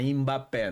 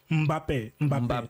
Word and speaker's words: Mbappé: é que o brasileiro fala Mbappé, né? O M não se lê. O N é sempre mudo. Quando você vai falar uma palavra africana. Tipo, é Angola. N-G-O-L-A. Tá. O N não se lê, é mudo. Na verdade, é nasal. É nasal. Nasal. Mbappé.